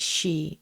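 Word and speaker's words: 四: The number four is pronounced she, the same as the word for death and is considered very unlucky.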